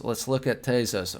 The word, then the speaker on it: Tezos: Let's look at Tezos. Or no, it's pronounced Tezos. I did the free Coinbase like video tutorial with the lady, and she explained to me it was Tez and Tezos.